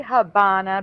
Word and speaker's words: Havana: No, they say Havana because the V in Spanish sounds like B, but I've never seen it spelled with a B ever.